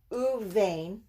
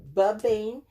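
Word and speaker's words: ובין: And again, that's an u and a va. It's not babain. It still means this. But you use the bain twice, this time with the vav in front of it. It changes to an u sound, and this one becomes a vet.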